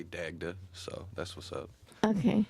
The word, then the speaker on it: Dagda: things on the written i think that might even be my americanized uh pronunciation it might actually be pronounced dagda but uh i say dagda so that's what's up